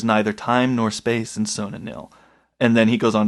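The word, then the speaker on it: Sona-Nyl: So they keep going, and they finally drop anchor in this harbor of, and how did you pronounce this? Sonanil? Sonanil.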